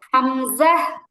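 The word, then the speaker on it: همزة: হামজা হামজা মানে হাম এর পরে শব্দটা জিমের মত হবে না এই জা এর মত হবে হামজাহ হামজাহ জাযা এটা আমরা জা শিখলাম না একটু আগে এই হামজা উচ্চারণের মধ্যে জা আছে হামজাহ হামজাহ হামজাহ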